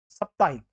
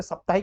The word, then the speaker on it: साप्ताहिक: है सन्यासी सही है सप्ताहिक अब यहां पर सप्ताहिक नहीं होता है साप्ताहिक होता है तो ये यहां पर